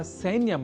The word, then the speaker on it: सैन्यम: ही चुके हैं कि सैन्य या सैन्यम में ऐ इस अक्षर का शुद्ध उच्चारण करना होता है आवश्यक, अर्थात सैन्यम को सैन्यम इस रूप में हमें नहीं उच्चारित करना है, क्योंकि संस्कृत एक ऐसी भाषा है जहां जैसा लिखा जाता है वैसा ही बोला भी जाता है।